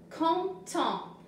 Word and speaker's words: content: Content. Tu n'entends pas le T à la fin de content.